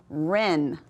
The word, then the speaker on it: wren: Let's look at the second one. Ren. What letter do we not say? Ren. That's right, the W is the silent letter.